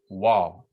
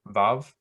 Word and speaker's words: vav: pronunciation the letter's name is called wall so that kind of w sound the phonetic value w while in the modern hebrew the letter is called valve the phonetic value of v so either pronunciation is acceptable i prefer vav i just just kind of like it better and um but you can also do wall if you so choose okay the difference in